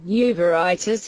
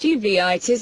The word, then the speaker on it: uveitis: also spread the infection uritis uritis pronounced uveitis is defined as all